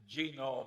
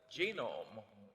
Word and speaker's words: genome: well I mentioned that one book genome I have a hell of a time putting the accent on the first syllable but that is a